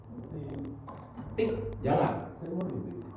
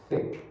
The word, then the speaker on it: thick: Contoh, tik, jangan dibaca tik. Dia dibacanya apa? Thick. Kenapa? Karena ada T bertemu dengan H.